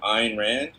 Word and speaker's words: Ayn Rand: And his next movie is going to be a adaptation of the controversial, I believe how you pronounce him, Ayn Rand, right?